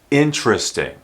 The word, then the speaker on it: interesting: word also would be three syllables with the accent on that first syllable interesting interesting here's the word interest